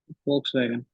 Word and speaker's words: Volkswagen: you just pronounce it Volkswagen Volkswagen exactly you know so folks see the sound of it is V but in German how do we read we foul wow so